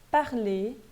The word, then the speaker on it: parler: Mas quando ele termina em R, quando a palavra termina em ER, esse R, via de regra, não é pronunciado. Então, eu vou ler parler, manger, nager.